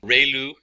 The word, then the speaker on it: ReLU: We have the sigmoid function, we have just a standard step function, we have the ReLU, it's pronounced like ray, the ray from the sun, and lu, like a name, so ReLU function.